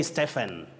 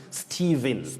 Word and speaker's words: Stephen: word many people say stefan we also have stephen stephen is also acceptable but the accurate pronunciation of that name is stephen just like we say shepard not shepherd yes stephen like stephen